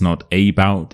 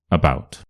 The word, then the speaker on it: about: So right here we have about about. It's not about, it's not about, it's about. Alone.